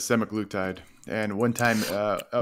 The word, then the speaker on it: semaglutide: horse's mouth of noo Nordisk I am not pronouncing it incorrectly it's semaglutide not uh the researchers and endocrinologists uh the